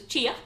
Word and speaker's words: chia: I've pronounced that right because I was saying chai and then I got told it was chia.